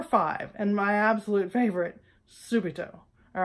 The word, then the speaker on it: subito: hard time remembering it it rhymes with stupid oh all right subito all right well I'm